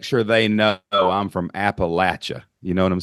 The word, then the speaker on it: Appalachia: But the people who were in the hills and hollers of Appalachia, not Appalachia, y'all got to say it right, Appalachia, They kept their original Elizabethan English dialect.